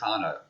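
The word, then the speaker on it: Carnot: by a guy called Carno. And of course I've totally stuffed the pronunciation. It's another French name C A R N O T.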